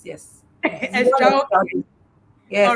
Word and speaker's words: Xtraokids: Yes, Xtraokids, yes. Xtraokids. Yes, all right. From the word extraordinary.